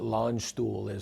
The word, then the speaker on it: Landstuhl: Yeah, so it's, I'll pronounce it correctly, but Landstuhl is one of the largest, you know, military